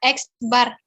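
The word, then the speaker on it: x̄: rata-rata nah disini Aduh lambangnya itu huruf x terus ada garis di atasnya itu kalian bacanya eksbar Oke iya Bu Tadi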